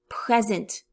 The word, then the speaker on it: present: I shift the emphasis. Present. Emphasis at the beginning. Present. Present. Emphasis on the second.